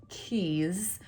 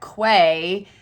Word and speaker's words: Quay: say by far, are Keys, which to me look like Quay, and I can't stand that they pronounce them Keys. Let's be honest. It looks like Quay. Why would you not say Quay?